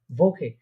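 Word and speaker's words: Woche: ভোকে, ভোকে। আবার ওকে বলবেন না, কারণ এটা আমরা দেখেছিলাম এটা ভে, ডাব্লিউটা কি উচ্চারণ করার পারে ভে, তাহলে হবে কি ভোকে, ভোকে।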